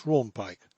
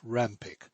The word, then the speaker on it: Rawnpike: voice abraham harrites and josh rawnpike pronounced rampik these men were accustomed